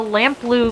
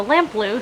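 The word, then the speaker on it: Lamplugh: day this is the lamp blue glacier that is how they that you pronounce it you said it just rhymes with the color blue so lamp blue so there we go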